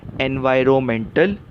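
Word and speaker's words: environmental: भी कर सकते हैं सही उच्चार क्या है एनवायरमेंटल इसमें जो एन है आर ओ एन में एन वो साइलेंट है वो शांत शब्द है उसका स्पेलिंग में उपयोग होता है लेकिन पढ़ने के टाइम उस अक्षर की हम आवाज नहीं लेते तो सही उच्चार क्या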